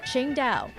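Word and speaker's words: Tsingtao: While it's spelled differently, it's pronounced the same way the city is pronounced, Qingdao.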